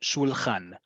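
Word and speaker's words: שולחן: Shulchan. And say it with Hebrew pronunciation, not with English pronunciation. U, ah. Okay, so keep your vowels, your mouth doesn't go all over the place, right?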